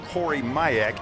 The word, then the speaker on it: Corey Mayak: player for flower bluff i mispronounced his name it is in fact corey mayak and some nice lady